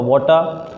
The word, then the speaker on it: water: वाटर किसी भी word के लास्ट में यदि र आता है तो उसको हम नहीं बोलें वाटर। आ बोल दीजिए, र अपना आप निकल जाता है, वाटर। सही प्रोनाउंसिएशन है इसका वाटर।